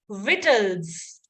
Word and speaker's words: victuals: So the silent one, just like indictment, again, the C is silent. So it is victuals, victual, right?